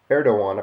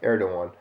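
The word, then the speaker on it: Erdoğan: turkey's president uh T erdogan I believe his name even though there's a g there is pronounced erdoan addresses local administrators in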